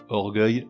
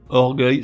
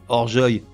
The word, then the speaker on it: orgueil: la prononciation je m'explique avec une terminaison en eil orgueil se prononcerait horjoy et cercueil donnerait Cerseuil c'est 5 mots sont accueille